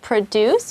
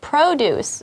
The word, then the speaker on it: produce: So we have produce, which is the verb, right? Right. And then we have produce, which is the product, right?